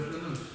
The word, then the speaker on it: flâneuse: So that's how it is pronounced, Le Flâneuse.